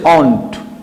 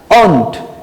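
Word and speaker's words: won't: Will not হবে হচ্ছে অন্ট। কেমন? উচ্চারণটা ঠিক করে নাও, shunt অন্ট, shunt অন্ট, shall not shunt, will not অন্ট, ভুল করবে না।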